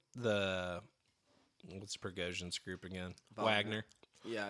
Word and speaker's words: Wagner: what's prosan group again Wagner yeah it's spelled Wagner I mean they're uh pronounced like the composer I think would that